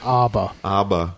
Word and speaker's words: ABBA: don't think knows how I believe it's pronounced ABA ABA nothing made me happier